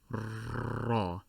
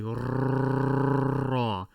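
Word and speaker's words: راء: So if you have to roll your R for the sound, go ahead. It is raw. However, do not roll too much. Do not say raw. That would sound like an engine on a boat.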